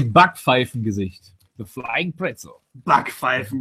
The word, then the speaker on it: Backpfeifengesicht: How do you say Backpfeifengesicht? The flying pretzel. Backpfeifen. Backpfeifengesicht.